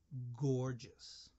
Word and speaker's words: gorgeous: words say it again gorgeous gorgeous this is the opposite of gigantic the first G sound is the hard G sound good the second G sound is the soft G sound you gorgeous here are